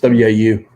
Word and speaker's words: Waukegan: There's some silence in there. Silent U's. Don't even trick words. Like WACHEE. It's WAU.